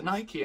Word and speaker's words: Nike: Nike is a Greek goddess, which is pronounced Nike, so why are we letting Greek people decide what the English flag is?